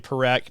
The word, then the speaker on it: Parekh: His last name Parekh, Parekh, Parekh is how you pronounce that.